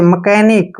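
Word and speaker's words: mechanic: scholar ठीक है ना अब देखि मैकेनिक मैकेनिक में भी सीच बीच में आया है इसलिए हमने सी को क पढ़ा है देखि मैकेनिक ठीक है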